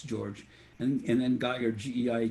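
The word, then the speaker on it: György: can find George Geiger but it's spelled G e o RG Y but it but of course in Hungarian that's George and then got your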